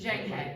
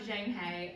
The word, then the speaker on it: Zhang He: what's the correct pronunciation of our Oh, Zhang He. Zhang He. Almost like a J. So the paragraph was about Zhang He, and it was whether